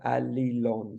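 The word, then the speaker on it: Allilon: of look at it so it's a-l-l-i-l-o-n so Ali Lon so alalon is ancient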